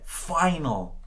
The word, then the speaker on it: final: you tried go ahead final very good now let's hear it from you final final very good final very good you want to open your mouth really wide when you're pronouncing that a ah finale very very good